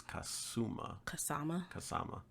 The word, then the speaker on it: Kasama: That's not Kazuma. That's Kasama.